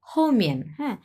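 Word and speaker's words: 后面: এরপরেরটা হচ্ছে হমিয়ান বিকজ এটা দুটাই হচ্ছে চার নাম্বার টন দেখেন এটাও চার নাম্বার টন এটাও চার নাম্বার টন স হমিন একটু তাড়াতাড়ি উচ্চারণ হবে হমিয়ান হমিন এরকম এর মানে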